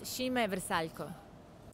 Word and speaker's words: Šime Vrsaljko: It is pronounced Šime Vrsaljko.